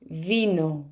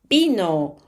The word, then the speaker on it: vino: We read the V as B. For example, how would you read this word in Spanish? Baño. Yes, well done. And this one? Vino. We don't read vino, we read vino.